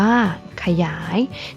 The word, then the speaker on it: ขยาย: นํา อักษร ต่ำ เดี่ยว เสียง ของ พยางค์ ที่ สอง จะ เปลี่ยน ไป ตาม อักษร ที่ เป็น ตัว นำ เช่น สง่า อ่าน ว่า สง่า ฉลาด อ่าน ว่า ฉลาด ขยาย อ่าน ว่า ขยาย นัก เรียน สังเกต นะ